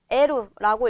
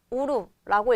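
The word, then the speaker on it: 得る: 에루라고 읽을 수도 있고요. 우루라고 읽어줘도 돼요.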